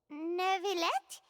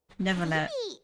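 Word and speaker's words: Neuvillette: Wait, Nervillet? Neverlet. I don't think there's an R in there.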